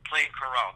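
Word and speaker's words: Plaincourault: these words maybe, but you visited, is it Plaine-Carrault? Is that how you say it? Yes, Plaine-Carrault.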